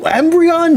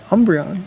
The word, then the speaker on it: Umbreon: You don't like like no Embreion, no Espeon, no nothing. Embreon. Umbreon. Yeah, but you just pronounced it funny.